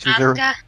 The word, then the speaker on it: Asuka: Oh, it's pronounced Asuka.